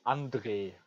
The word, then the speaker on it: Andre: Well, the German pronunciation is Andre.